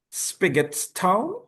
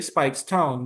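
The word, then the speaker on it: Speightstown: If I I hope I am pronouncing this correctly, but Spigots Town, Spikes. Spikes. Okay. Spikes Town.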